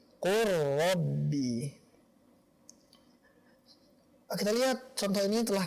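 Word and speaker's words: قُل رَّبِّ: Akan tetapi dibacanya bukan sesuai dengan hukum asalnya, izhar, bukan seperti ini, qul rabbi. Akan tetapi qur rabbi.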